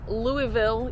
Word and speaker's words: Louisville: I know it's Louisville, you don't pronounce the S. Louisville, Kentucky Cabela's.